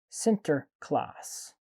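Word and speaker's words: Sinterklaas: the united states because we borrowed the dutch pronunciation forum which is center class okay i probably butchered that one anyway his real name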